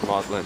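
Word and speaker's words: Magdalen: like to die here's mlin Bridge that's uh spelled magdalin pronounced mlin what are you thinking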